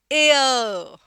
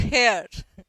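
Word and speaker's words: heir: अब ये होता है एयर एयर नॉट हेयर उत्तराधिकारी होता है इस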